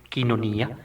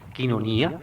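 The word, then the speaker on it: κοινωνία: en Comunión con él la palabra comunión se dice en griego quinonía quinonía se escribe coinonía quinonía es digámoslo así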